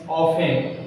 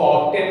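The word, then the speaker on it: often: English के वाक्य में प्रेजेंट सिंपल जो आता है उसमें प्रायः अक्षर टुडे, ऑलवेज, समटाइम्स, ऑफन, इसको ऑफ्टेन ना पढ़ें, इट इज साइलेंट है, ऑफन, daily, everyday, regular, regularly मैंने लिखा नहीं, यूजुअल, यूजुअली।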